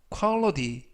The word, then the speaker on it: quality: 이때 유의하실 점은 끝부분에 있는 알파벳 T가 트가 아니라 부드럽게 드, 그래서 quality 라고 발음하시면 좋겠습니다.